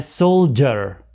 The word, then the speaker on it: soldier: Soldier. A soldier. أيضا لاحظ أنه حرف دي وبعدها I تلفظان ج. ج. كأنه يعني في اللغة العربية نضع حرف الجيم وقبله دال. ج.